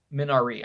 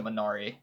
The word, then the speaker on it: Minari: Minari, I think is how it's pronounced.